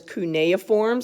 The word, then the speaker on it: cuneiforms: If you look at the first one on your sheet, it says cuneiforms.